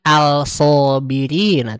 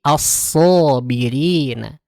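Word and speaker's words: الصابرين: Bukan al-sobirina, tapi as-sobirina.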